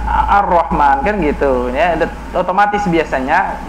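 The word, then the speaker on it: الرحمن: Seperti kita membaca Ar-Rahman, tidak ada yang membacanya Al-Rahman, bacanya harus Ar-Rahman, kan gitu ya.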